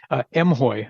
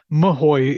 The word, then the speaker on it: M-Hoye: Traditionally, I believe it's pronounced M-Hoye around the organization, but Hoye is, I'll take it. It's a new variation on the theme.